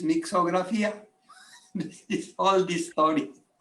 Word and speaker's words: Mixografia: Because the word was difficult to pronounce, we take out the T, and the name is Mixografia.